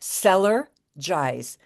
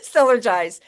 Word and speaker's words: Cellergize: By the way, it is pronounced Cellergize. There's no Y. It's not cellular. It's Celler. Cellergize.